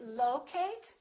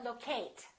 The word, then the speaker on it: locate: at the next one is it locate or or locate it's the first one again it's locate locate be careful you probably a lot of people say locate because they're thinking of the word location as sometimes when we